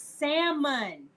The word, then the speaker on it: salmon: on their fishing tonight you're not supposed to pronounce the L are you no it's salmon there's no but it's